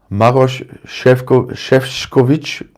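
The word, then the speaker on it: Šefčovič: can do what uh chef shkovich and that's someone wanted to make me really pronounce it that way which is proper but too many for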